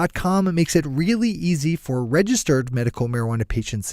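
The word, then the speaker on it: Eaze: same one more time that's easy calm which is spelled e a Z e is calm alright time for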